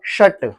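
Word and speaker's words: shut: इंगश क्या होता है सट सट सट नहीं बोला शट शट ला शट शट the Windows आप आप खुद ही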